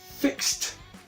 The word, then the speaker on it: fixed: Se dice fixed, fixed.